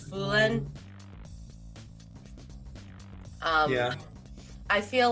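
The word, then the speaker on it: Fulenn: and aher i i didn't know how to pronounce it but it's foolin um yeah i feel like it's not it's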